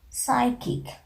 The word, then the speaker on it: psychic: You know, normally letter P is silent if any word is just beginning with the letter P. In that case, we are not pronouncing the sound of P.